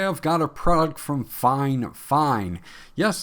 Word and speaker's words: FIFINE: got a product from Fine Fine. Yes, it's spelled Fi Fi NE, but I contacted the company and it is pronounced Fine Fine.